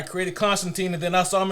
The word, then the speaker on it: Constantine: Constantine is the way it's supposed to be pronounced at least two times